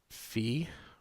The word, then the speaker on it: phi: the angles a bit this is phi which rhymes with three theta doesn't rhyme with